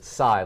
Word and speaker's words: Xay: Xay, like sigh of relief, it's not the full name.